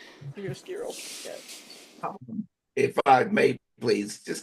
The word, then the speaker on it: chiaroscuro: How do you pronounce that? Chiaroscuro effect? Yeah, you're right. Chiaroscuro.